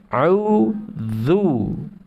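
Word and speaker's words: أعوذ: talaki dengan para masyayikh, dari ta'awud ini bacanya sudah beda. Dari 3 huruf yang pertama ya. 3 huruf yang pertama. A-u-dhu. Saya kasih clue. Fasohanya harokat. Ya, jadi kalau nanti ketemu harokat fathah, maka mulutnya harus dibuka.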